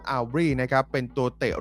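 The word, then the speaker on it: Aubrey: สาย ตา ไป เนี่ย ผม จะ อ่าน ว่า brandon อูบ แต่ ไม่ ใช่ ครับ เขา อ่าน ว่า brandon aly นะ ครับ เป็น ตัว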